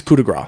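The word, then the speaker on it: coup de grâce: Oh, Coupe de Grace, or do you pronounce it Gras? It's Coup de Grace.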